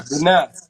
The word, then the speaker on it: HBBenii: It's HBBenii. Oh, that's how you pronounce, but nah. Benai. Yeah. My middle name. That's my middle name. Okay, okay, okay, okay. See, I'm in the nigga terms. You know what I'm saying? I read, but you say, but nah.